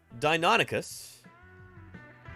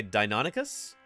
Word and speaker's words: Deinonychus: people voted on this how do you pronounce dinonicus do you say dinonicus or do you say Dino nycus and Deinonychus is the clear winner here um it really doesn't